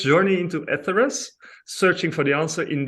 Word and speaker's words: Etheres: How do you pronounce it? For instance, Eteris or Well, Etheris. we say it Etheris, yeah.